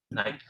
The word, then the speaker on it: night: night, Night, same thing, right? Entonces no suena la G, no dirán nunca night, solo night.